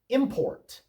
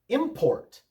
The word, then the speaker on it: import: Import. Import with the accent on the first syllable is a noun, and it means something brought in from outside the country.